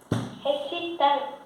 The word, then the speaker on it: recitant: Recitante. Errada a pronúncia. É a tônica. Recitant.